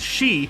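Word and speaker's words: 四: eye in Japanese culture the kanji for four is sometimes pronounced as Shi which is the same word as debt due to this it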